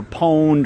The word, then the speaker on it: pwned: word is pwn IDI it's either owned or pwned or what however you pronounce it have I been